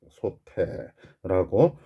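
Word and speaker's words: 솥에: 받침 티읕이 뒤에 에를 만나서 얘는 의미 없는 형식 형태소죠. 초성이 이응이 모음으로 시작하는, 모음으로 시작하는 형식 형태소를 만났어요. 조사음이 접사 같은 놈을 만나니까 에라는 조사를 만났거든. 그러면 받침은 그냥 뒤로 넘어가야 되죠. 그래서 소태라고 발음을 하게 됩니다.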